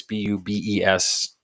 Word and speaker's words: Bubes: A place called Booby's Brewery. It's Bubes.